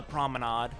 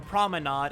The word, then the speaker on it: promenade: Not the chemical plant, but on the promenade. Mm-hmm. Or at least I have been instructed to call it the promenade and not the promenade. I've been told I was wrong when I pronounced it promenade.